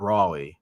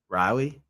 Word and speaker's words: Raleigh: It's not Raleigh. No, it's Riley.